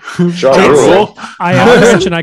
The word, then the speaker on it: Giroux: First off, since I'm practicing my French, Giroux, I believe is how you would pronounce it. Giroux. Giroux.